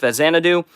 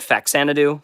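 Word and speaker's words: Faxanadu: I think it's pronounced Fezanadoo. I've always said Fakanadoo for obvious reasons cuz it there's an X.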